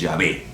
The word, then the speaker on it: Yahvé: adonay que significa señor y salió Jehová pero Jehová no es la pronunciación correcta la pronunciación correcta es llave repito la pronunciación correcta de yahvé que significa